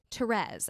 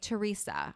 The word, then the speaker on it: Therese: happy you asked because i do say therese i don't say theresa or or therese or terry um and as someone